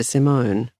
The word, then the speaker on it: Simone: A woman appears, introduces herself as Sister Simone. She pronounces it simon.